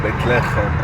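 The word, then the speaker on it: בית לחם: Bethlehem, this is the way the Hebrew language would pronounce Bethlehem, Bethlehem, and it means the house of bread, while in Arabic, Bethlehem means the house of meat.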